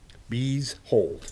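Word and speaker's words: Beezhold: Bees hold, just like it kind of spelled.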